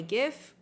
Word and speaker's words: GIF: That image playing over and over in your head like a gift. It's not the truth. It's pronounced GIF. Huh? GIF, like the peanut butter. The creator said so.